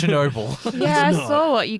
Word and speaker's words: Chernobyl: Because Chinobio. Chernobyl. You're making me say it wrong, like Chinobio. It's Chernobyl.